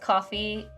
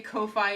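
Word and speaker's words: Ko-fi: thought it was pronounced Coffee Co or Kofi I it it depends on it is the correct pronunciation is coffee cuz that's the bit right you're buying someone a coffee I learned it as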